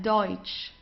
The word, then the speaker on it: Deutsch: So we very often have this combination of e and u. So it's oi. Okay. The pronunci pronunciation is oi. Okay. Let's try that. Deutsch.